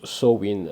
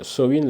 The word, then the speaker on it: Samhain: Ça se prononce Samhain. Samhain, le nouvel an des sorcières.